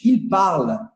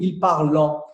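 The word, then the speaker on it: parlent: Eu não pronuncio il parlant. E esse é o erro comum que a gente vê os alunos cometendo repetidas vezes. Eles falam il parlant. E eu entendo a confusão, mas agora você sabe que aqui é uma exceção. O ENT, se normalmente ele é pronunciado on, em verbos conjugados ele nunca é. Seja a pessoa que for. E seja o tempo que for, inclusive. Se está no verbo, não pronuncia.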